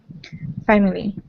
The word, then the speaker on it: family: Family. Yeah, a lot of times that's pronounced with just two syllables. So, family.